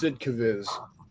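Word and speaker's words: Sd.Kfz.: Division camouflage and yes that is the proper way of pronouncing sdkfv it's sidcaviz I think we're all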